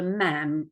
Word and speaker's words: ma'am: and I said to the queen now your majesty um no you called her ma'am you had to call her ma'am rhyming with Spam I said ma'am um